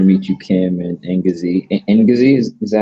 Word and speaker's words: Ngozi: Ngozi, is that how am I pronouncing it right? Ngozi.